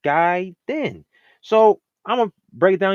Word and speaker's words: Gaiden: with another one is saying gay then instead of guy then so I'mma break it